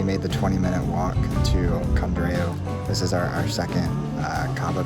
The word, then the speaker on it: Codorniu: Codorniu.